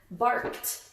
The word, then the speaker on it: barked: I hear me saying t, and if you thought the same thing, you are correct. Yowled and barked both happened in the past, so they have an ed at the ending, but this one sounds like d, and this one sounds like t.